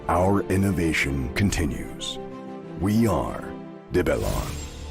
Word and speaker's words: Develon: continues we are develon I think I may need to rethink how I'm pronouncing that I thought it was devilon because apparently it's a it's a conjunction of the word develop and Innovation devilon apparently the Americans are going with devalon evil on there you